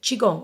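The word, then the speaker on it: qigong: you would add in chiong okay chigong which is spelled Qi g o n g now chiong means life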